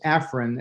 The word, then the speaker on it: Afran: my name is pronounced Afrin as if I was an heir to the nasal spray Fortune okay it's spelled with an A but it's pronounced with a short I if that's right thank